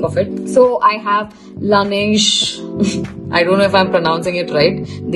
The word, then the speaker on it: Laneige: So I have Laneige. I don't know if I'm pronouncing it right. Din mundu actually google chesa correct ga ela pronounce cheyali ani cheppi. So it was Laneige.